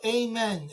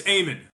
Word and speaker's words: Eamon: Hey, Eamon, is it Eamon or Amen? How do you pronounce it? It's somewhere in between. It's Eamon. So you don't have to say a prayer when you say hello to me, but it's Eamon.